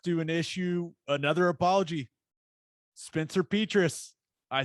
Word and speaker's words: Petras: Is it Petrus? How do you say it? The announcers were saying Petras. I think Petrus is way cooler, but let's go with Petras because that's how that must be what the huge big guy.